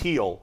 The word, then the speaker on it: Gil: They have a rookie named Luis Gil. Gil, yeah. Spelled Gil. It's pronounced Heel.